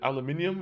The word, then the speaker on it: aluminum: Aluminum cans are like gold. Yeah. How do you say it? Aluminium or alum aluminum? I I just call it aluminum. But there's a good argument for both.